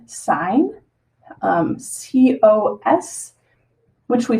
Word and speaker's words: sine: When you look at a calculator, your calculator will have buttons for these, and it'll just be abbreviated SIN, but we pronounce it sine, COS, which we say cosine, or TAN, which we pronounce as tangent.